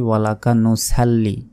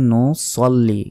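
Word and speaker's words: نُصَلِّي: পারে সঠিক উচ্চারণটা হচ্ছে নুসল্লি কারণ সদ লাম জবর সাল হয় না সদ লাম জবর সল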